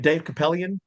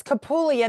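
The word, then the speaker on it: Kupelian: Are you, and I said his name wrong. You're saying Dr. Who was it? Dave Capellian. Okay, I thought it was Capulian.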